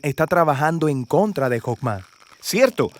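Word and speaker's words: חכמה: hacemos que es esta fuerza en hebreo se pronuncia hoffman y usualmente se traduce al español como sabiduría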